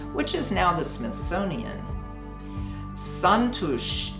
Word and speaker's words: Xantus: is now the smithsonian santosh is how you pronounce it in hungarian but we call it zantos hummingbird when the light hits